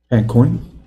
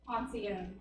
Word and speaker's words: Poncione: Beth Pancoin? Picconi? Tell us the correct pronunciation. Poncione. Oh, man, I was a mile off.